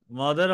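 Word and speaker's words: مد: মদের হরফ তিনটি। মাদ মানে কি, এটা আরবিতে কিভাবে লেখা আপনাদের দেখাই। এটা মদ বলতে মিম মদ এরকম হলেও আরবি উচ্চারণ কিন্তু হবে মাদ, মিম দাল, হ্যাঁ মিম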